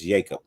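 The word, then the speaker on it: Jakob: all been calling him Jacob Johnson but his actual name is Jacob the Jay is silent it's Jacob like waim you know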